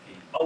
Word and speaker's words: Keezy: to officially welcome, am I saying it right, Keezy? Yeah, Keezy.